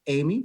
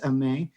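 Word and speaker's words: Aimée: i'd like to introduce a may code uh and i actually know how to pronounce her first name and we might say amy but it is a may and amay is uh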